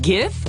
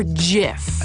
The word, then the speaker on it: GIF: Wait, GIF or JIF? Hard G.